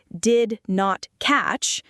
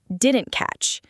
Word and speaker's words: didn't catch: The key is in the words didn't catch. We don't say did not catch. We say didn't catch. The two t sounds often blend together.